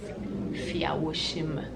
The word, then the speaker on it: Fiawosime: I say Fiawosime because it's easy. I also have a can in me, so it's just easier to say and easier for people to like grasp. But the proper pronunciation is Fiawosime.